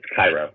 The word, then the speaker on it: Cairo: Am I pronouncing the name right? Is it Cairo? It's Cairo.